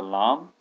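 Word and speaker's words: لا: So this line over here it's a lam and this curling back is an al if same thing here this is lam and this coming back is al if and that would be pronounced la.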